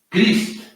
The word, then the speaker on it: Christ: se escreve É como Cristo em inglês igualzinho sim é assim pronunci o teu nome Sandra Eh meu nome meu sobrenome se pronuncia crist eh de origem alemã meu pai meu pai